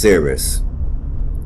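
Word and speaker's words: Souris: to pronounce it and it looked like it's pronounced Cirrus on the serious River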